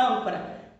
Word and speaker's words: âncora: E na palavra âncora? Âncora. Qual que é a sílaba tônica da palavra âncora? O ã. Estou de pertinho porque agora eu quero chamar a atenção de vocês.